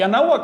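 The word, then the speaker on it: Anáhuac: Se lo voy a poner como ellos lo pronunciaban. Se lo decían porque hablaban nawak y anahuak es una lengua, es una palabra nawa. Ana wakak. compuesto de a agua y nawak rodeado de Así que en su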